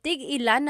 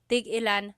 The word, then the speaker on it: tig-ilan: So tig-ilan, when there's a hyphen in it, you have to have that glottal stop.